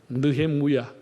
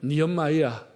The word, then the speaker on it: 느헤미야: 느헤미야, 히브리어 발음으로 하면은 느헤무야, 영어로 하면 니엄마야, 우리는 느헤미야라고 했는데 그 뜻은 하나님의 위로라고 하는 뜻입니다.